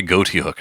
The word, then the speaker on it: Ghoti: Of course, I do believe it comes from the sort of joke pronunciation of Ghoti, as you could say this is fish because English is messed up,